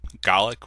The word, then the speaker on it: Gallic: It's Gaelic when it's Irish, and it's Gallic when it's Scottish, or at least that's what I was told.